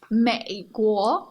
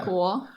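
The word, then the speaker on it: 美国: 美国 I remember I struggled so much with this because it's very awkward to make the third tone. Third tone and the second tone. Right? After each other, yeah. 美国 And I would just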